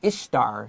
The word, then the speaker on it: Ishtar: And Ishtar sounds like the word Easter.